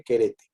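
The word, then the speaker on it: χαίρετε: es la palabra querete, así con acento en esa E que está más chaparrita, fonéticamente querete.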